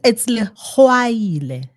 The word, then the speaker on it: Legwaila: It's Legwaila, like Legwaila. Oh, sorry. There you go. Well done, young man. Did we spell it wrong, or no? It's spelled correctly. It's the way you say it.